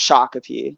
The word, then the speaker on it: Shakopee: I'd been a Shakopee that was like there's Shakopee that's how you say it that was like